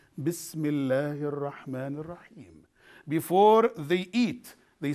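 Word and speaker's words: بسم الله الرحمن الرحيم: Here is the pronunciation of this one. Bismillahir Rahmanir Rahim.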